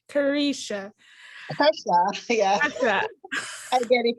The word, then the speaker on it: Kirsha: So I'm so worried about pronouncing your first name wrong. Kaesha. Kaesha, yeah.